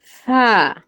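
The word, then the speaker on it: ث: একটু বুঝিয়ে দাও তো সাবে উচ্চারণ করতে হয় সা তুমি একটু বুঝিয়ে বলো যে কিভাবে উচ্চারণটা করছো তুমি ওই যে জিহবার আগা উপরের দুইটা দাঁতের সঙ্গে লাগিয়ে উচ্চারণ করতেছি আমি ওকে সোহেল ভাই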